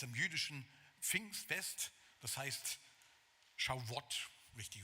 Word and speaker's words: Shavuot: Und zwar immer am Pfingstfest, am jüdischen Pfingstfest, das heißt Shavuot, richtig ausgesprochen.